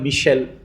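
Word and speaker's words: Michelet: তাদের মধ্যে একজন একজন মিশেল বা মিশেলে ফরাসিতে উচ্চারণটা এরকম হবে তো এরা কিন্তু আসলে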